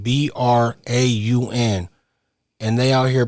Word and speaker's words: Braun: These got a white boy with the name spelled B R A U N and they out here pronouncing it brown.